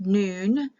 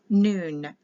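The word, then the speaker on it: nun: the next letter is n and this is pronounced noon it's spelled n-u-n but it's n for the letter n and it's pronounced noon all verses start with the noon letter the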